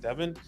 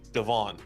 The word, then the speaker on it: Devon: some people would like Devin Devon Devon excuse me Devon say it correctly Devon a chain I trade